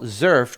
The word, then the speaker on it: XERF: What's different a little bit about the Zurf is that and first of all Zerf just for those of you listening is spelled X erf.